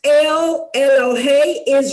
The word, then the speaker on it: El: okay now uh we're going to talk a lot about the name l e l that's pronounced L and L of course is translated